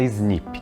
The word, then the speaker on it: SNP: existe uma coisa chamada snp pronunciada snip que vem do inglês